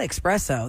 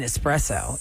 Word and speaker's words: espresso: song is teaching everyone it's not espresso there's no X in that it's an espresso es but it says anything